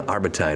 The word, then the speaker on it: Arbutine: on the show arbite is here hello how are you welcome to the show it's like valentine did i say it right just like that perfect all right i guess